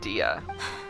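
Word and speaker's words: Dehya: It's spelled Dea, but they said Dia.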